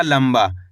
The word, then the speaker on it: लंबा: तो मिलके बन जाएगा लंबा। कैसे पढ़ेंगे? लंबा। दोस्तों इसके अंदर आधा म का उच्चारण हुआ है।